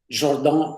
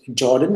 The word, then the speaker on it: Jordan: composition series as we saw here now this Jordan holder theorem Jordon maybe I should say but let's pronounce it Jordan as everybody this says that if I two